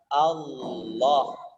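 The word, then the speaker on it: الله: hukum lam jalalah saja lamjalalah dimana Lam dibaca tebal yang dikenal dengan pulang the tagline kami itu berarti memang tebal dibacanya jadi lafadznya adalah allohu allohu bukan hal ulah-ulah berkat ilangnya dibaca tipis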